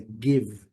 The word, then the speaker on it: give: O verbo dar, give, lembrando, letra E não sendo pronunciada, o último som que nós temos é o som do V. Então, a transcrição fonética nos traz uma pronúncia sem o I final, não give, é give, give, give, fechando o V, give, give.